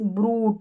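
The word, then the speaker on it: brute: फिर यहाँ पर स्पेलिंग लिस्ट दे रखी है जहाँ पर यू का उच्चारण ऊ हो रहा है। यहाँ जैसे ब्रूट, यू का साउंड नहीं आ रहा, ऊ का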